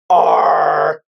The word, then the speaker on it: ARRR: And the ticker symbol for Pirate Chain, by the way, is ARRR, which is pronounced R.